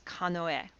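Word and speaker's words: かのえ: to it and and pronounce it not using the onyomi but the kunyami i would refer to it as kanoe i hope that makes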